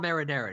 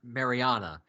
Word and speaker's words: marinara: Meatball marinara, not meatball Mariana.